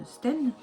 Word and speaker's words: Austen: On vous donne des délais, mais il est impossible pour moi d'attendre pour faire la box Jane Austen comme je l'avais prévu parce que le tissu n'est pas arrivé.